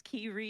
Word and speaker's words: Kiryu: So I just like, or Kiryu and Kiryu. I'm like, no, it's Kiryu.